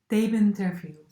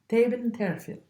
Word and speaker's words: Theben Terfiel: Theben Terfiel. Theben Terfiel. Yeah, Theben is in a German way, Theben, and Terfiel is in a French way.